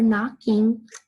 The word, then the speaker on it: knocking: wrong and we're knocking we have a silent K and how do you hear that because I remember the click click click like alright tricks I remember that there's that silent K right there so who's knocking on